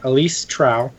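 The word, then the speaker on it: Elise Trouw: Yeah, Elise Trow. So it's Elise, and then Trouw.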